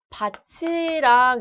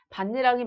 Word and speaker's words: 밭이랑: 자, 반니랑의 경우에 지금 티읕 뒤에 이가 이어져 있기 때문에 얘를 밭이랑 이렇게 발음해야 한다고 오해할 수 있습니다. 근데 얘는 아니에요. 반니랑이 맞는데요. 자, 지금 이랑 같은 경우에 형식 형태소가 아니라 실질 형태소죠. 구개음화는 형식 형태소 이가 이어졌을 때 일어나는 거고요. 여기서 이랑은 실질 형태소이기 때문에 이런 구개음화가 일어나지는 않습니다.